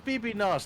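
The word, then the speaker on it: bbno$: funniest shit ever is everybody fucking saying his name wrong. Yeah. Hey guys, oh, it's BB Nos, not what I'm called. Exactly. Fucking okay. So I'll be honest. Before like I called him like Baby No Money, I generally just like said.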